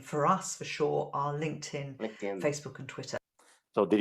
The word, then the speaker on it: LinkedIn: us for sure our linkedin facebook and twitter so did you hear yeah so pronunciation basically it's going to be like this link 10 linkedin link 10 linkedin linkedin you say link and tan linkedin link that's just